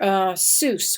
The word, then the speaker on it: Seuss: Seuss we say Seuss rhymes sort of with mother Goose and s/ii USS was